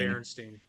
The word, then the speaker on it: Berenstain: Exactly Berenstein Bears, not Oh no, that one I Berenstain. Berenstein.